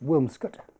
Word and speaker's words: Williamscot: for the village of williamscot locally pronounced wilscot which we will visit